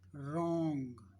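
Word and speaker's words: wrong: रॉन्ग, रॉन्ग, रॉन्ग, इसमें रॉन्ग pronounce कर रहे हो, W साइलेंट हो गया।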